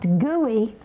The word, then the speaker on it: GUI: Again, an acronym, GUI, pronounced GUI.